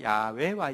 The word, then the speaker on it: 야훼: 저자는 이와라는 분인데 이와는 우리 성경의 하나님 이름의 정확한 발음은 야훼인데요. 야훼와 이와는 굉장히 비슷합니다.